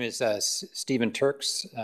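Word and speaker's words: Turckes: name is uh Stephen Turks Turks is spelled t-u-r-c-k-e-s with Perkins and will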